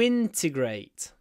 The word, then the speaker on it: integrate: I help immigrants to integrate integrate the stress on the first syllable to integrate it begins